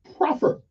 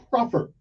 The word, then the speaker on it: proffer: but the word is p-r-o-f-f-e-r how it is pronounced it's proper p-r-o-f-f-e-r proper and what does it mean it means it